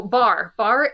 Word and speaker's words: Barre: town in Massachusetts called Barry, and it's spelled the same. Is it? Yep. Do you say this the same way? No, it's Bar. It is okay. Bar. Barre.